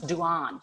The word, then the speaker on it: Dehaene: Now, this man, Stanislas, and I looked it up on the internet how to pronounce this in French. He's a French cognitive scientist that Maryanne Wolf herself quotes. It's Stanislas Dehaene.